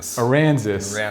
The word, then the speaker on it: Aransas: I always want to say Aransas, but I like to think if Arkansas and Kansas had a baby, get Aransas. So this is a bigger one.